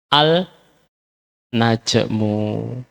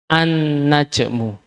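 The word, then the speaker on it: النجم: menunjukkan lamnya dilebur ya kalau enggak ada tasdid nanti khawatir bacanya Al najmu supaya menunjukkan lam ini dilebur ke huruf nun maka nunnya dikasih tasdir sehingga bacanya annajmu seperti itu demikian juga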